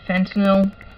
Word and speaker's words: fentanyl: was getting reduced pain meds he was on fentanyl that's the right pronunciation and he thought it was getting turns